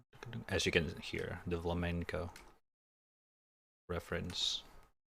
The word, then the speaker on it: flamenco: As you can hear, the flamenco reference. Not flamingo, flamenco.